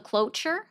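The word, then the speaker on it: cloture: So, it's called a cloer and then it's you could also look it up by the nuclear option.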